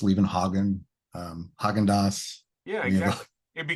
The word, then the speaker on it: Levenhagen: I always tell people when I'm like, if they're having trouble pronouncing it or something, so it's kind of like Copenhagen, except with 11 in front of it.